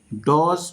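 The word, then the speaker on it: dodge: ওকে আমরা এখন শিখবো ডি তো সাধারণত ডি প্লাস জি অথবা যে যদি থাকে সেক্ষেত্রে ডির উচ্চারণ হয় না। যেমন জাজ জাজ মানে বিচারক। ডজ মানে ধোঁকা দেওয়া।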